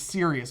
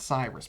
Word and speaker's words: Sirius: always called Sirius Black it's Cyrus it's Sirius Black not Cyrus oh oh yeah there